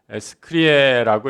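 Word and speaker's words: scire: 여러분, 무엇을 알다 라틴어로 스크리에라고 이렇게 발음을 합니다.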